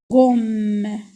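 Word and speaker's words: gomme: بحال غوم غوم غادي تقولوا لي علاش كتبنا دوزيم يعني جوج خطرات ام لان تنقولوا غوم بحال نطقنا بالشده يعني كنا غوم. انا بالعربيه تنديروا شده وبالنسبه للفرنسيه تندوبلو لي كونسون داك لا كونسون تندوبلو على جوج خطرات غوم غوم.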